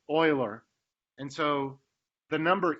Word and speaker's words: Euler: his name looks like it's it's might be pronounced Euler but it's actually pronounced Euler and so the number E which is a